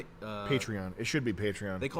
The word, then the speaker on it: Patreon: say it wrong because it's Patron. So, it should be Patreon.